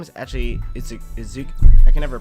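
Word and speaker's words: Iizuka: His name is actually Izuka. I can never pronounce it.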